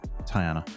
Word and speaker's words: Tiana: do we got tajan how do you say his wife's name tyana tyana tyana not like you don't say th no it's t tyana Tiana well unless I've been